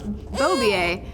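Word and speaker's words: Beaubier: last name and I was like oh it's bobier and she's oh like the motorcycle rider and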